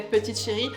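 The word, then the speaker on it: Petite Chérie: so Parisian so French we pronounce petite Cherry Petit Cherry so in English is little darling but I think in French it's so much better to say PTY Cherry PTY Cherry is a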